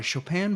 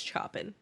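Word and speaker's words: Chopin: excerpts of works by Shopan Bach and Mozart. So yeah, it's like a very much uh you pronounce that wrong. It's Choppin.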